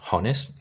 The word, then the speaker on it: honest: It's like just so genuinely honest. No, you don't pronounce the H.